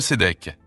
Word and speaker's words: Sédek: Le mot Sédek vient de l'hébreu Sédek, qui se prononce T, S, E, D, E, Q.